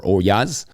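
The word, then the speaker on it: ollas: I think the olas or oyas, as I think it is properly pronounced, are an interesting touch.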